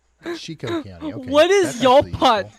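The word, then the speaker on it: Chicot: They're passionately confirming panty size hail after you bravely waited until that chicken county is Chico. Chico County.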